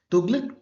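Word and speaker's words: तुग़लक़: 1414 एडी तक हुआ तुगलक dynasty जिसको कुछ लोग तुगलुक भी कहते हैं that is only the pronounce और स्पेलिंग का ही डिफरेंस है ठीक है तो ये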